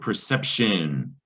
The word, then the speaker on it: perception: that kep or sep c followed by an e is going to be a soft c sep and there's sept this is the word perception it's an abstract noun